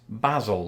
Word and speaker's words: Basil: know a person's name I call this basil like Basil Fawlty Basil for sure for